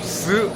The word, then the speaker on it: 十: 4는 쓰, 10은 스 이렇거든요. 발음이 거의 비슷해요.